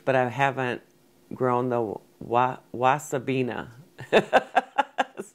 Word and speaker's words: wasabina: I've grown like the giant curled mustard leaf, but I haven't grown the wasabina. That's how it's pronounced.